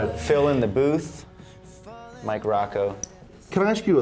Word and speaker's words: Ruocco: under my name Mike Rocco I know it's spelled weird but it's ruo C the song is too